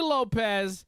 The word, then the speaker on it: Lopes: Lopes should be Lopez, and Ige should be Ige.